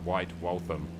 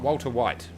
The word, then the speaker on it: White Waltham: airports i did the white waltham is how you pronounce it thank you in the comments uh not not walter white not white walter white but uh white waltham largest uk uh